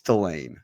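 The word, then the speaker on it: Delane: get a uh firm a confirmation on how we pronounce his name it's Delan so manord delain delain coming out of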